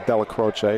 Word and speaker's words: Della Croce: delro delro Bachi tournament I've been instructed by the Del croches to say to pronounce it as Dela croch not the nap tanway uh day one 2024